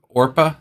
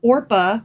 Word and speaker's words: Orpah: Orpah?